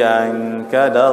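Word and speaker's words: أنقض: Dia bukan alif tu ain. Alladhi ankada dhahrak. Nah, kadang-kadang kita ingat tu bunyi alif kan.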